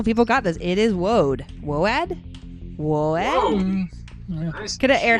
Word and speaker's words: woad: It is Woad.